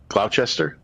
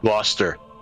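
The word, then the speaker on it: Gloucester: Yeah, I rate it freaking Glou Glowchester. Glauus Glowister Glouster. Oh, so we just don't pronounce all the letters in English.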